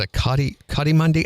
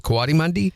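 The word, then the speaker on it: coatimundi: I know Scott on here said I I He said a cotti kadimi. I think he means a katimundy. Okay. And what is that? I don't know. Mundi, which is spelled with a C, not a K.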